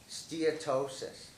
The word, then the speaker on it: steatosis: let's start with um and I'm going to pronounce it right steatosis right correct all right this first time I've